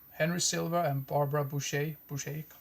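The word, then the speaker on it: Bouchet: prostitute with uh henry silva and barbara boucher boucher pronounced her name but yeah always wanted to see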